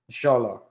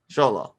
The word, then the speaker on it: Xolo: Mexico, depending on what part of Mexico you are, the letter X has different sounds.